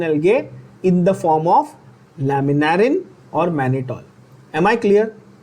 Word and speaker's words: laminarin: There are two more examples of complex carbohydrates, especially found in brown algae, in the form of laminarin. Again, pronunciation very important. Public इसको laminarin बोलती है, बहुत गलत, ध्यान से देखना।